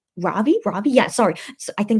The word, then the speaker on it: Ravi: Yesterday, they had Midnight Idol with Lavi, Ravi, yeah, sorry.